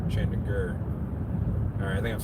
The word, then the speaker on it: Chandigarh: Chandigarh. I'm trying to do it the way it would phonetically be done in English. So it's not Gar, it's Gur. Chandigarh.